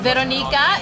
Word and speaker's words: Weronika: name is pronounced Weronika, if you're going to say it the Polish way. Weronika. The W makes a V sound.